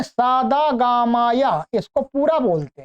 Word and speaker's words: सद्: स द ग म य द में अ नहीं है। ध्यान रखेंगे ये दोनों शब्द अलग-अलग है। ये मिले हुए नहीं है। अलग-अलग हैं। और ये द हलंत है। अर्थात आधा जिसको बोलते हैं स्वर से रहित है।